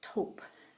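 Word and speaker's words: སྟོབས: So in Sanskrit it's bala, in Tibetan it's top. The s is silent.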